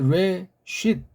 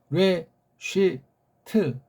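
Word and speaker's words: רֵאשִׁית: 레쉬 또는 레쉬트 센 은 아니에요. 레쉬트 트가 이게 좀 들락말락 이런 거를 이 소리를 갖다 각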